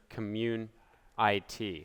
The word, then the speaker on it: Commun.it: Hey Mike, I'm just recording this video now because you asked me to show you Commun.it. Well, actually, I think it's actually pronounced Commun.it, so like community, which is a weird way to pronounce it anyway.